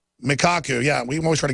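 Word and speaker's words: Michio Kaku: Vortex leading physics professor michiku how do you pronounce that I hear his name on the news all the time but a k a k u mikaku yeah we always try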